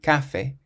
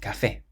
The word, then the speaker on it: café: Well, the word for coffee has an accent on the E, so we don't say café, but café.